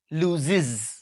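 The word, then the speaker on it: loses: বাট উচ্চারণ হয় তিনভাবে, কখনো কখনো এটার উচ্চারণ হয় ইজ। যেমন ধরেন লুজ, হারানো, কোনো কিছু হারিয়ে ফেলা। লুজের সাথে যখন আমরা এস যুক্ত করি, এই ইএস এর উচ্চারণ হয় ইজ, লুজ এন্ড আই লুজ, কিন্তু হি যদি বলি আমরা বলি লুজিস, লুজিস, ঠিক আছে।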